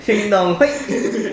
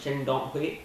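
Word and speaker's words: Shin Dong-hyuk: Shin Dong Hoi.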